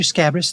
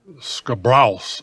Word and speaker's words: Scabrous: mr scabbers that's me scabrous is how my name is pronounced it's not that hard people think of double time reggae with a solid horn section okay ska and browse like grouse only with the beats